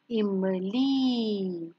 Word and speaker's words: इमली: म ली इमली. Repeat after me ई. म ली इमली.